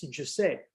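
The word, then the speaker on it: Josep: And I've just learned that the right pronunciation in Catalan is Giuseppe, which is something very similar to Italian, to the Italian pronunciation with the Giuseppe.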